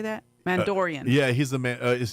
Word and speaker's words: Mandalorian: Mandalorian.